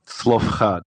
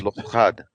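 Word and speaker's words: Zelophehad: Quick, how do we pronounce that? Slofchad. Thank you. Slofchad.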